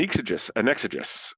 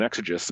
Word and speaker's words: exegesis: And what I decided to do was sort of write an exegesis, depending how you want to pronounce it, an exegesis upon the entirety of Ellroy's work.